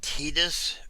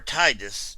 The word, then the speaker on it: Tidus: want to show off this is Tidus or Tidus, depending on how you want to pronounce it. Both are considered in play for his name since it was never said audibly. Um, in the original Japanese, it's translated as I believe Tida.